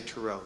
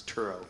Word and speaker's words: Turow: Turow is the correct pronunciation. That is correct. Yeah, a lot of people say Turow, so now you know it's Turow.